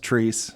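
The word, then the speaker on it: Chreece: our great events in Indianapolis is the annual trece hip-hop Festival uh it happens in Fountain Square every summer and it's spelled c h r e e c but it's pronounced trece yeah you've had to correct me a couple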